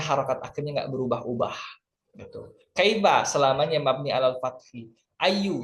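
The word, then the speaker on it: كيف: Selamanya dibaca kaifa, nggak boleh kaifi.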